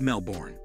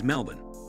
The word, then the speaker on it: Melbourne: I'm sure the Aussies cringe every time they hear that the accepted pronunciation is Melb’n, according to Learner's dictionary or to make it a bit easier, Mel-bun.